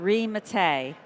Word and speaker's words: Mattei: wrong, but I'm going to ask you to pronounce your name for me. It's Mattei.